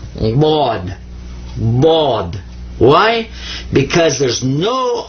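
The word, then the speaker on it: ض: You're doing some stuff in the back of your throat, moving your mouth a funny way, but most people that don't know Arabic, when they pronounce it, they just pronounce another D. But it's not. It's actually Bod.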